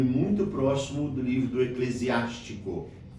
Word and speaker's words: Eclesiástico: próximo do livro do Eclesiástico. É bom a gente prestar atenção na pronúncia porque nós temos um outro livro na Bíblia que se chama Eclesiastes.